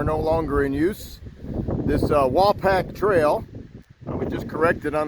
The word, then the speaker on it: Wapack: longer in use this wall pack trail which is corrected on the pronunciation it's not waypack but wall pack trail and wall pack